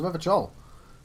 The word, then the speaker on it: Revachol: He pronounces Revachol with a hard K, unlike other people. There you go. You said Revachol. I like to pronounce it the hard way, the old way, the Vespertine way.